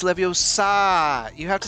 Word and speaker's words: Leviosa: it the right way it's not leviosa it's leviosa you have to say